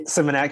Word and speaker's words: Symmonett: Is it Symmonett? Is that how you pronounce that? Yeah, Symmonett, correct? Yeah.